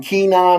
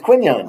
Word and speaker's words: Quinyon: Because they're saying Keenan and Kunyon. I know. Isn't it funny? Come on, it's Quinyon.